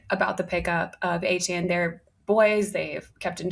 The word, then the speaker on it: Etienne: He changed his pronunciation. Etienne.